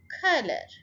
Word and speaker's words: color: Color, say it with me, color. First syllable को stress करें.